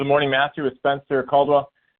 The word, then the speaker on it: Caldwell: but for whatever reason, people have a hard time pronouncing the A and the L together, so I get called Cadwell all the time. It's not like a full Caldwell, right? Like Caldwell. It's Caldwell.